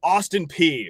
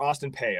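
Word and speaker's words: Austin Peay: So, it's going to be a Big 10 recruiting battle for the legend of Austin P or Austin Pay. I've heard it pronounced both ways.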